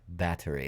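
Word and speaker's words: Báthory: this is elizabeth bathory bathory otherwise known as battery that's how they actually pronounce it in romania or hungaria but anyway everybody knows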